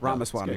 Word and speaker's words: Ramaswamy: said r r Swami yeah you got it Ram Swami well good morning good to see you guys